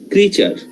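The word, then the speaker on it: creature: থাকবে জিনিসটা এ উচ্চারণ হবে না তাহলে এটার উচ্চারণ কি ক্রিচার কে জানি এখনো ক্রিয়েচার বলে ফেলছে দিব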